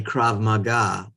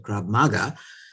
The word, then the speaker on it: krav maga: girls all um study krav maga i'm surprised that pronunciation i always said grab maga um you know had